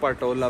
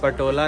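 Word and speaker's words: Potala: कहने लग रहा हूं पटोला पैलेस पटोला पैलेस पटोला नहीं है भाई पोटाला पैलेस है मैंने अभी पढ़ा की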